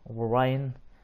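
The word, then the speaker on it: Rorion: All his children's names start with R's. But you don't pronounce the R. It's more like an H or a silent R.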